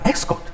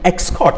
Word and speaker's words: escort: to take an action then escort he is an ex-code and now then ex-court i'm asking you to follow someone okay transport this is